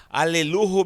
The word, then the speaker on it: Haleluhu: Aleluhu. O que significa Alelu? Ou Alelu? Porque muita gente não pronuncia o H como som de ré, não pode ser pronunciado. Então, Alelu significa louvai-o.